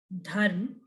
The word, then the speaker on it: dharma: if you see uh we pronounce the word as dharm so after the the sound of comes and then the sound of mur comes the word ends with the sound of mur dharma and here in dev